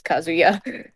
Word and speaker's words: Kazuya: say tomato tomato anyway you've been pronouncing it like it's kazoo and then with the yacht at the end it is not kazoo there is no kazoo i like kazoos anyway